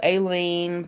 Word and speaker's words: Aileen: Aileen? So the I is silent. I get it. My middle name is. And it's spelled. So it's French. So the Y sounds like an E. So Aileen.